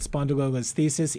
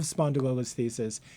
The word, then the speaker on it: spondylolisthesis: There's nothing easy about spondylolisthesis. Even the pronunciation is hard.